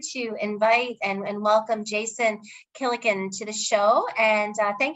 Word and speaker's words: Gillikin: Gilligan's Island. It's like that, but Gillikin. Gillikin.